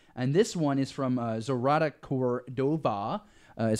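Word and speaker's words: Zoraida Córdova: keep going here and this one is from zarada Cordova is how you say the name and author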